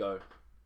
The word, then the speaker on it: ou: I would like to shake the hand of the big O, Afrikaans for person, pronounced O, that did that to you.